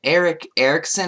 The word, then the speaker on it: Erick Erickson: so this guy named Eric Erickson I believe is what it's pronounced as and he wrote an article